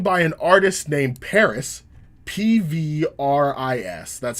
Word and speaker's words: PVRIS: worlds was sung by an artist named paris p v ris that's how it's pronounced paris but pvris was sung by a singer called